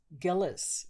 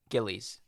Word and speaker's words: Gillies: cast put on his characters was uh Liz Gillis did I say her name right Gillies see there you go again Liz's character um